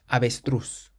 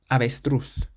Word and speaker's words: avestruz: The next word ends in a Z, so we stress the last syllable. Avestruz. Avestruz. It means ostrich.